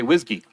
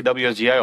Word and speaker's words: WSGI: world by storm and this is how you say it you say whiskey because I'm not going to say wsgi all the time and this is kind